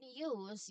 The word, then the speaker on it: use: So, in use, you start you start with a with a um Y sound. That's a Y sound, huh?